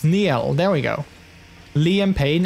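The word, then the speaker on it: Niall: oh yeah neil horn oh yeah it's not niles neil there we go liam payne and lewis thomason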